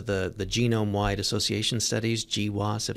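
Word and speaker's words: GWAS: the genome-wide Association studies gee wasup that's how it's pronounced and that yeah basically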